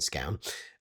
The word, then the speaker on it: Scown: things that he's involved in down at Steven Scone.